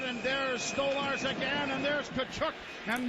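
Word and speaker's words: Tkachuk: Here we got Bath trying to get at somebody and McCabe is escorting Kachuk to his side of the ice saying your room is That's how you say his name.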